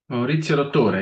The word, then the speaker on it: Maurizio Dottore: Maurizio Dottore. Yeah, it's Italian.